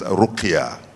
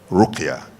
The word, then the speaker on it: ruqya: call in Arabic terms ruqya. Ruqya. R-U-Q-Y-A. If you like, I can add, because it's an Arabic word with a hyphen on the A, that is an elongated pronunciation, ruqya.